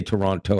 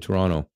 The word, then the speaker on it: Toronto: notice I didn't say Toronto I said Toronto it sounds like Toronto but you're saying the te but it's so soft that it sounds like Toronto right it's kind of